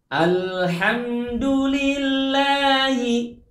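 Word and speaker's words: الحمد لله: Alhamdulillahi. Dalam hal ini ketika kita mengucapkan huruf lam, tahan posisi lidah kita di ujung, ujung lidah kita di langit-langit ditahan al dan melepasnya bersama-sama atau hampir bersamaan dengan bunyi huruf H.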